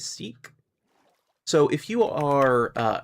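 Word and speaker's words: Sikh: let's say you have someone who is uh seek or sick or however how however you pronounce that particular religion right um I'm going to go with seek because that's what I always hear and uh the people locally to me um who are generally pronounce it as seek.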